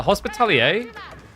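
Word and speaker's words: Hospitaller: Uh hospitalier is because of the French origin from But I'm pretty sure I've only ever heard it referred to as Hospitaler sounds kind of hospitaler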